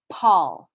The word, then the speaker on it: Paul: I'm going to use the name Paul, for instance. So in English, the name Paul is going to have a puff of aspiration. Paul, Paul, even RuPaul, right?